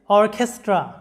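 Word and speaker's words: orchestra: অর্কেস্ট্রা, লক্ষ্য করো শব্দটা অর্কেস্ট্রা, শব্দের উচ্চারণটা হবে অর্কেস্ট্রা, এরকম, যেটার বাংলা অর্থটা হচ্ছে বাদক দল।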